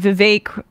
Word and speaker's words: Vivek: I guess Trump and Vivek uh rhymes with cake ramaswamy have a bit